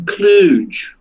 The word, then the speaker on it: Cluj: He says he lives near fucking Cluj, right? It rhymes with fucking splooge.